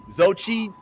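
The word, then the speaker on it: Xochitl: Zochi. It's like Zochi, Zochi. So what about the last two letters? Silent.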